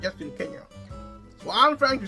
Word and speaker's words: Kenya: So, some have said that this was a precise notation of the African pronunciation, Kenya. Kenya. Okay. So an 1882 map drawn by Joseph Thomson, a Scottish geologist and naturalist, indicated Mount Kenya as Mount Kenya. And that's how the Europeans still pronounce Kenya to this day, Kenya.